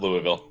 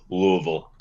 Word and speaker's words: Louisville: like the city of Louisville too okay it's just hard to say because like a lot of people in the Midwest especially go Louisville Louisville like like like two syllables they say the village